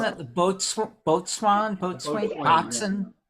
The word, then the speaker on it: boatswain: It Isn't sounds that the boatswain, boatswain, Boatswain, yeah. boxen? How do you say it? Boats. Well, Bosun? a boatswain is a bosun, but a Okay.